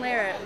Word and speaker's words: Larratt: It's spelled L-A-R-R-A-T-T and pronounced Larratt, not Larratt, and all the other ways that people always end up saying it.